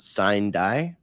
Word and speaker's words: sine die: walked out of Congress, that was a Latin term that would be pronounced sine die.